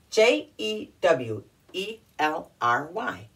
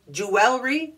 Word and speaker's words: jewelry: the first word is j e w e l r y looks like it should be a three syllable word because it has one two three vowels in it and should have three